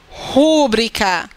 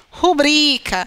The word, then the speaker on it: rubrica: É porque a palavra não é rúbrica, é rubrica. Então, a sílaba tônica é bri.